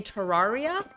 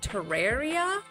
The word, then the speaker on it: Terraria: Lots of people pronounce it like Terraria. Terraria. Oh, that's probably why I thought you said it. Oh, like terrain, Terraria.